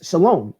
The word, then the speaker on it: Shalom: of David some a be Shalom which contains Shalom yet his name was rendered Ibis alone in